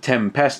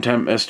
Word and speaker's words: Tempest: And this is essentially a remake of Tempest, and it's I don't know why I've just pronounced it Tempest, to be fair. It's Tempest. You just say it as one word.